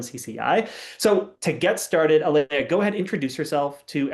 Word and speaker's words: Aleah: And I need to make sure I'm pronouncing right. It's Aaliyah, not Aia.